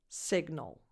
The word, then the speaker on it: signal: The stress is on the first syllable, so at the beginning of the word, and the vowel is a lax I, signal. And then the G and the N don't blend. They are separated. Signal, signal.